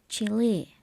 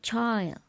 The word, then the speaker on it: Chile: Chile is pronounced as Chile, not child.